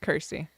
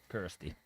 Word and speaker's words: Kirsty: It's like thirsty. Kirsty. Kirsty.